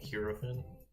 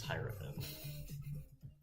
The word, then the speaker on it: hierophant: Today we are making the hierofphant and I definitely had to look up how to pronounce that because I have been saying hien but I guess it's hieren.